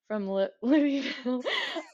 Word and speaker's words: Louisville: as well, who's from Louisville. I feel like that's the right way to say it. He said you're supposed to say it like there's something in your mouth.